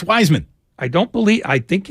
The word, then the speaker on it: Wiseman: ask you a question how come you always pronounce James wiseman's last name as if you were a German prison guard I believe that's how he pronounces it it's Wiseman I don't think Ben Wiseman since the day was drafted everyone in the world says wise men including him why do you call him Weissman they'll call him viceman